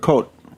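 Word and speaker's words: Kout: yeah we still import coat K yeah it's pronounced co uh and I think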